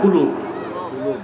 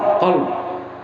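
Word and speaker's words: قلب: না, অনেক উচ্চারণ করতে পারে না, বলে কাল। কাল মানে কুত্তা। এটা হবে কল। কি হবে? কল। এটাই আসল।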